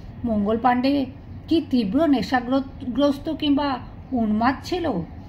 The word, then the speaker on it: পান্ডে: করা যায় তাদের মঙ্গল পান্ডে হয়ে গেল এক বিভীষিকার প্রতীক মঙ্গলবার দিয়ে শুধু পান্ডে তাও ইংরেজরা পান্ডে ঠিকমতন উচ্চারণ করতে পারে না হলো পান্ডি এই পান্ডির মতন দুশমন